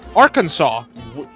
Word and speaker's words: Arkansas: Arkansas must be pronounced Arkansas.